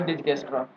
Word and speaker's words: Dijkstra: और डिस्टेंस vector और link state routing protocol, yes, instead of saying Dijkstra algorithm, call it shortest path first algorithm, right?